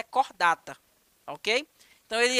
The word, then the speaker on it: Chordata: então o subfilo Aliás o filo cordata ele se escreve em latim como chordata tá mas a pronúncia é cordata OK então ele é